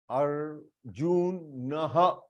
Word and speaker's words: अर्जुनः: For example, Arjunah, here R is half, आधा र है, तो अर्जुनः, अर्जुनः ऐसे प्रोनाउंस करना है, अर्जुनः.